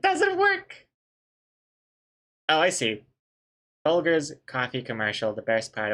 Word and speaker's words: Folgers: That's a hard G, isn't it? No, that's a soft G. That's a soft G. Folgers.